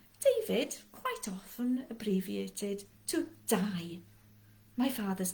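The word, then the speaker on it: dau: a number so the number for two is die we have many davids in wales after our patron saints i'm sure saint david david quite often abbreviated to die my father's name is david everyone calls him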